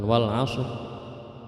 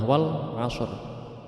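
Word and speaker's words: والعصر: Kalau mau dibaca per ayat secara waqaf atau berhenti itu wal asr, bukan wal asr, wal asr, tapi ada ra matinya, wal asr.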